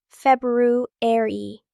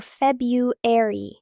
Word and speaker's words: February: Two common pronunciations, February or Febueri. Both are correct. Many people just say February, three syllables instead of four.